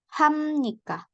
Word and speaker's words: 합니까: Sama dengan 합니까 dibacanya harusnya 합니까.